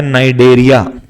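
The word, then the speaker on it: Cnidaria: फिर उसके बाद आता है नाइडेरिया। नाइडेरिया की इंग्लिश में स्पेलिंग है CNI।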